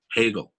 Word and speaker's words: Hegel: was the german philosopher hegel rhymes with bagel hegel was an idealist